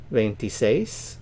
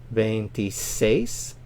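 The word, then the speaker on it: veintiséis: venti Cinco venti Cinco ventises stress on the last syllable because of the accent mark ventises 26 26.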